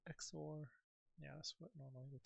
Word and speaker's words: XOR: The difference between the largest exor value and the smallest exor value is the exploded pair. Uh actually how do you pronounce exor? Some people say zor.